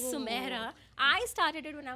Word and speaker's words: Sumaira: So my name is pronounced Sumaira.